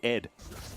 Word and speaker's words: ADD: Um, and you're supposed to pronounce it ED.